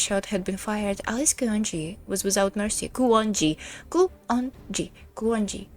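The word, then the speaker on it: Kuonji: It's not It's not French. Nero. Come on. It's not Larry. It's not French. It's Japanese. You say every syllable as you see them when facing a roommate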